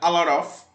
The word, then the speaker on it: a lot of: bem mais rápida e cortando praticamente o T, ele fica a lot of. Então esse T do lot, ele vai embora praticamente, então fica a lot of.